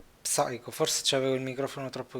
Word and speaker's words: Psycho: Dottore, please, non pronunci la P di Psycho Mantis. Psycho, forse c'avevo il microfono troppo vicino. Psycho Mantis.